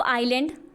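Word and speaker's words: island: अगला कहता है 9th point, the group of आइलैंड, S silent है यहाँ पे, ग्रुप ऑफ आइलैंड के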